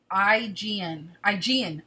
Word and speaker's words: Aegean: Aegean, the Aegean, as in the Aegean Sea.